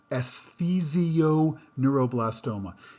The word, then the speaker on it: esthesioneuroblastoma: I'm going to pronounce that more slowly, esthesioneuroblastoma.